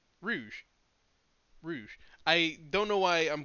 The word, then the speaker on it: Rouge: If Rogue ever... Is it Rogue or Rouge? Rouge.